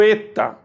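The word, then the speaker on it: η: como z z o Eta toma cuidado aí no Eta porque parece um h Mas ele tem som de e e o minúsculo parece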